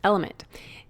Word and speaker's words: LMNT: our sponsors lmnt element it's spelled l MNT but pronounced element if you haven't heard